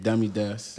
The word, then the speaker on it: DammyDaas: Stage name, DammyDaas.